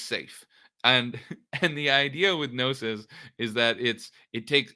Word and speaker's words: Gnosis: And this is made by Gnosis, is the company. And it's everybody- - Let's spell that name just cause they're never gonna get it right.